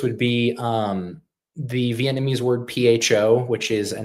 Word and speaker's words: pho: An example of this would be the Vietnamese word PHO, which is a name for the soup that they enjoy.